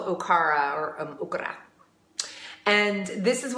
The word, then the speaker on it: okara: not pronouncing it correctly okra okay eight are a or Okara maybe some people pronounce it that way so it doesn't sound like you're saying okra Okara okay ra is the